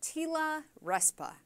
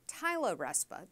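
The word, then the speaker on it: TILA-RESPA: watching this to get ready for tila respa or Tyler RESPA depending on how you pronounce it which may be the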